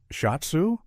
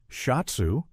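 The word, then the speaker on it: シャツ: Uh, shhatsu. He mangles the pronunciation, and I find myself correcting him before I can stop myself. Shotsu, I say clearly, then immediately feel my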